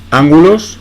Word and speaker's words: ángulos: 7.2, ángulos, acento en la A, es esdrújula, tipos de ángulos, también